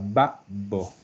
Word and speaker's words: babbo: Es más una pausa. Babbo. Hay una pausa y se pronuncia, después de la pausa se pronuncia la letra fuerte, solamente una vez y Claro, fuerte.